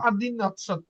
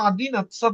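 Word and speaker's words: одиннадцать: নাচ্ছাত হ্যাঁ, আবার এটা আচ্ছা উচ্চারণ আদিন নাৎসাত, তো বা আদিন নাৎসাত উচ্চারণ হবে।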